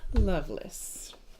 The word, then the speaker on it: Lovelace: I said Lovelace, but Loveless works too. Lovelace. It's the same. It's the same spelling, isn't it? Lovelace. Loveless. No. Loveless is L-A. Well, when you pronounce Lace, it's like less.